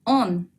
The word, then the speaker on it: он: Tú se pronuncia como ты. Es muy fácil. Repetid, por favor. Ты. Ты. Él se dice он.